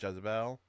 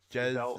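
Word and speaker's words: Jezaille: that's not Jezebel. Yeah, there's no B in it. Giselle, I'm just gonna say Giselle Brett. I don't care. Yeah, I don't really care at this point. we've been Giselle saying Brett.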